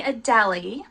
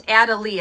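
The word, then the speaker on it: Adelie: the emperor and the adeli Adel I keep wanting to call it adeli but it's adal is how you pronounce it and then I want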